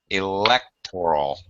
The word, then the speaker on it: electoral: Electoral. Electoral. No, wait a Electoral. minute. Electoral. Oh, you should not say. I'm saying it right. You should not say electoral. You should say what second syllable stress, Christian?